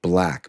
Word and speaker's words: BLVCK: Currently on Instagram, there's an ad I keep seeing pop up, and it's for a LUT package, I think, called Black, but it's spelled BLVCK, I believe.